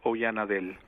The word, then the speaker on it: Oyanadel: is pronounced and my last name is oyanadel oyanadel all right he's